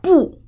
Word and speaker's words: 不: Okay.不 pronounced as fourth tone when it add first, second, and third tone. Okay, 不说汉语, not speak Chinese, 不来,不好. So it's all has powerful tone, okay, 不.